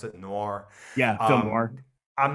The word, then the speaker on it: noir: of movie and nor movies said how you pronounce it noir yeah i'm not i'm not a big fan